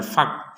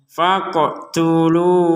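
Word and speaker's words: فاقتلوا: Di sini, 'qof' dengan tanda sukun dibaca dengan bunyi "melompat", "faqo", " faqo". Jadi, bukan hanya "fak", "fak", "fak" menggunakan huruf 'qaf', misalnya, "f a q", "fak" tanpa getaran.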